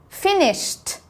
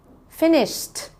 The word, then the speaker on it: finished: Finished. Finished. Should be able to hear the t at the end.